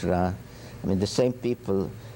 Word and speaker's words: Ra: Some say Re, but it's Ra.